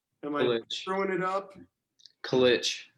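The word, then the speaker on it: Kılıç: Kilic. There's like an accent on the C, so. That's why when I see everybody posting your name, they've got like this little thing on the bottom of it.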